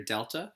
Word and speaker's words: Delta: X changes by one this triangle is pronounced change in its the Greek letter Delta capital Delta which means change so you'll see that